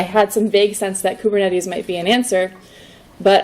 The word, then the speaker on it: Kubernetes: out of the way at the beginning it's pronounced kubernetes the CLI that we're going to use to